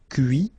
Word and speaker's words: cuit: Okay, so you can notice that even if I put this final T, so as usual, I don't pronounce it. Okay, conduit, construit, cuit, détruit, instruit.